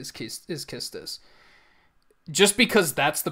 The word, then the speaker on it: Quistis: I mean, there is a chance that it could be Quistis. We would have to, like, just because that's the Japanese pronunciation, like, because that's what I'm going off of. The Japanese pronunciation is Kistis.